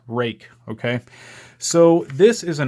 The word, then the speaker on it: Ruike: it's spelled rui ke it's pronounced rake because it's Chinese and it's not English so in English it would be rude or Ike or something else but